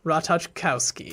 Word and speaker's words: Ratajkowski: written this is which is rutted no ratas Ratajkowski that was so close that's one bucket what